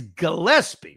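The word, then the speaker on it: Gillispie: That is Gillespie, right?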